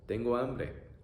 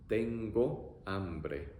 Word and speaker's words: tengo hambre: So, tengo hambre, I'm hungry. E-o-a-e, E-o-a-e, tengo hambre, tengo hambre.